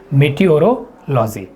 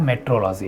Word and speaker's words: meteorology: है, लिखा है मीटियोरोलॉजी, तो लिखा भले ही है मीटियोरोलॉजी, बट इसको पढ़ते क्या है, मेट्रोलॉजी। क्या पढ़ते हैं, मेट्रोलॉजी। तो ध्यान देंगे सी, जो सी वाला ऑप्शन है, तीसरा ऑप्शन की स्पेलिंग सही है, इसका उच्चारण होता है मेट्रोलॉजी।